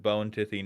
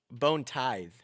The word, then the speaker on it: Bone Tithe: Are you pronouncing that wrong on purpose? What do you mean bone tithe? You mean bony tiffy?